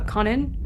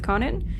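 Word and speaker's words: Kwannon: Yeah, but it's Conan, but I'm pretty sure the the W is silent in the way you say it.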